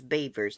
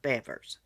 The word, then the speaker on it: Bevers: Now, I thought I was pronouncing her name wrong, but on the news it says Beavers, not Bevers.